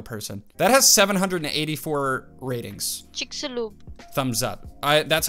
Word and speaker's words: Chicxulub: Chicxulub. Was that it? It's either Chicxulub or Chicxulub. Chicxulub. I was expecting an AI voice. That was definitely a real person. That has 784 ratings. Chicxulub.